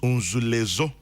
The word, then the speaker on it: Nzulezo: The tourist attraction in Izma Jomoro is pronounced Unzulezo.